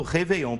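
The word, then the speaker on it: réveillon: e com o acento a gente vai continuar falando reveon por quê Porque no francês o acento não é igual na Língua Portuguesa que é pela sílaba tônica Ou seja a sílaba mais forte o acento no francês pega pela etimologia e reveon vende de reve que significa acordar Renascer Então o ano novo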